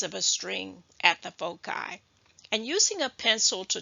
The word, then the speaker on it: foci: want to mention that the plural word for focus is pronounced different ways um Foci foci faux C now I'm going to